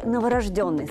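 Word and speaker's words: новорождённый: Только что родившийся – это все-таки новорожденный, согласно литературной норме.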